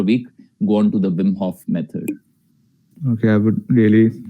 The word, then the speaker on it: Wim Hof: so w i m h o double f wim hof method yeah yeah please okay okay so uh